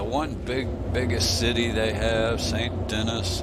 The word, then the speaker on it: Saint Denis: biggest city they have, Saint Denis or Saint Denis, if you want to say it correctly, because it's supposed to be like the French Quarter in Louisiana.